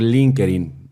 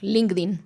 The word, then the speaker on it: LinkedIn: Cuando Estefanía me buscó por Linkerin, ¿cómo se dice? Exacto. LinkedIn.